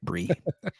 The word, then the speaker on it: Bree: You have to spell your name with more I's when you write it, Bree. Because it's pronounced Bree.